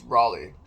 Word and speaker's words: Raleigh: And the following morning, I flew to Raleigh, Raleig, Raleigh. Easy way to remember that, it's not Raleigh, it's Raleigh, like R-A-W, raw food, raw fish, raw meat, raw, R-A-W. Raleigh rhymes with raw, R-A-L-E-I-G-H.